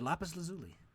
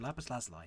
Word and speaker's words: lapis lazuli: crystal praise and a lapis lazuli or a lapis lazuli depending on who you ask okay the values if